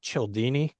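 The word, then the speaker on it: Cialdini: It's written by uh Robert Chelini. That's spelled C I A L D I N I.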